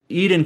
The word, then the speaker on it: Eiyuden: eden chronicle rising and apparently it is pronounced more like eden at least that's how